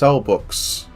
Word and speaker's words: Selbbeeuqs: Apparently it's pronounced Cellbooks.